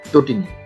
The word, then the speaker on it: তটিনী: এরপরে আছে তটিনী, সঠিক উচ্চারণটা হচ্ছে তটিনী। গণিত এবং তটিনী একই নিয়মে গঠিত, সঠিক উচ্চারণ হচ্ছে তটিনী।